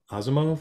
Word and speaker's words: Asimov: Asimov?